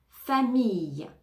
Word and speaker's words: famille: famille famille famille famille les deux ailes vont se prononcer comme un y famille famille fruit fruit on